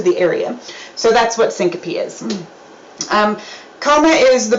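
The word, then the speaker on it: syncope: Um, syncopy is how you say this next word.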